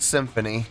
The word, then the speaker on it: Xymphony: Uh, today's song, Symphony, pronounced Just Like Symphony.